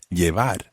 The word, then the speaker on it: llevar: To begin with, we're going to look at the word llevar. As you know, it's spelled L-L-E-V-A-R, llevar.